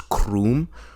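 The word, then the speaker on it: K-Room: Awakening law has either said K room pronounce Croom or our room pronounced room as opposed to his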